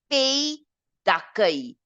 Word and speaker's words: pays d'accueil: Now the pronunciation, guys, it's pays d'accueil.